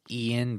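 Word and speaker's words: Ioan: about right Ian gruffudd this is his first name Ian it's I think it's Ian but it's spelled real weird it's spelled like IO a n yeah look at it it's like somebody wrote the word loan yeah but yeah we're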